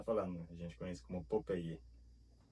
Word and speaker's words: Popeye: Um que eu achei interessante é o Popeye, porque a gente escreve ele igual, porém a gente pronuncia do jeito espanhol. Então, todo mundo conhece como Popeye. Popeye. Se você falar Popeye para qualquer pessoa que